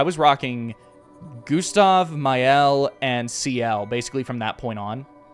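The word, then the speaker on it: Sciel: before I realized that her name is actually pronounced the exact same way as a Mega Man Zero character, just without the S.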